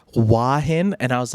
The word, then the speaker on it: Hua Hin: Hoi Hin? No, a bit Hua Hin. Nice. Got it. Cool. It's actually pronounced Hua Hin. Hua Hin. It's Hua not.